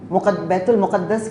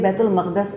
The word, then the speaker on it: बैतुल मक़दस: तो उसमें हैकल सुलेमानी, इसी को बैतुल मक़दस भी कहते हैं, बैतुल मुक़द्दस कहते हैं लोग आमतौर पे, लेकिन बैतुल मक़दस इसका सही प्रोनाउंसिएशन है।